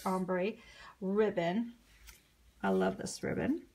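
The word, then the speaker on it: ombré: I think it's called ombre, pronounced ombre ribbon.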